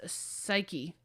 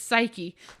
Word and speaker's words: Psyche: her her name is psyche oh yeah yeah yeah yeah I've heard of her um I keep wanting to say psych proud of it's psyche she has been pronouncing